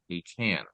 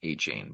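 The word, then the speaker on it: Achane: But Achan, his name is Devin Achan, not Achan, by the way.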